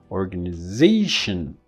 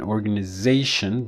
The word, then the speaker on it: organization: In organize, the or was a stress. In an organization, the zation is a stress. So you have added syllables, and this one in organization. So this diphthong is reduced to a schwa, organization, in North American English.